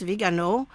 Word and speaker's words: Viganò: I don't know that his name's Viganò, but I would assume that the accent on the O at the end is a stress.